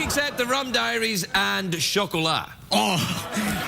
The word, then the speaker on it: Chocolat: the rum diaries and chocolate oh how did you pronounce that what how do you say that word Chocolat it's a French word for chocolate oh okay I didn't